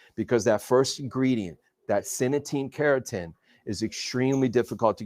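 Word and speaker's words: Cynatine: This is internal, so it's pronounced synetine keratin, and so this actually has tremendous clinical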